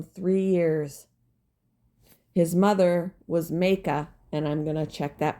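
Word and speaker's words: Maacah: reigned in Jerusalem three years his mother was Maka and I'm gonna check that pronunciation too all right here we go he reigned in Jerusalem three years his mother was meiika the granddaughter of Absalom he committed the same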